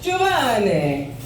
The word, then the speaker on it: Giovanni: So, my name is Giovanni, folks. My name is Giovanni, look at me. But it's pronounced Giovanni. Yeah, that's right, say it with me, pizza place. Giovanni.